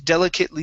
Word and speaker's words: delicately: Okay, so with short ribbons delicately sewn. Try that. With short ribbons delicately sewn. Okay, so the ATE, okay, that's going to be a short I and a T, so delicate.